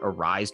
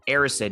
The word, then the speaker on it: Erised: out this week that i actually called it a rise for some reason but aristid is how it's actually pronounced and i'm gonna put this right in